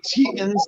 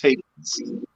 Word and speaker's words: Tetens: Okay, so I pronounce it regularly Tetens because it's just easier for people to pronounce. Okay. But if you were in Europe, it would be pronounced Tetens.